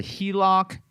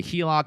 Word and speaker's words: HELOC: And some of you guys may have heard of this as a HELOC. Okay, that's what's pronounced or abbreviated as home equity line of credit. People call it a HELOC.